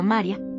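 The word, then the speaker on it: Mária: En húngaro, el nombre adopta la forma María, con acento en la primera sílaba.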